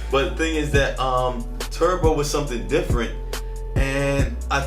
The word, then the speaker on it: Turboe: there's an E, but the E is silent. So it's in an O and the E is combined. So it's like an O-E. And then that's how you spell Turbo. That's Turbo, man.